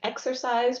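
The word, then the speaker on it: Xerces: it spelled out because it's a confusing name that starts with an X I've heard it pronounced exercise before um but again we're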